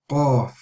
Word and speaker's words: Qaf: The next letter is Qaf, Qaf, Qaf.